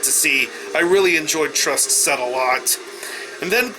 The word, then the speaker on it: TRST: Then after that, I go back outside to watch TRST, or as I'm told is how it's pronounced, Trust.